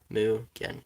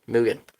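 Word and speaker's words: Mugen: the third season mugan it's pronounced mugan mugan thank you keep that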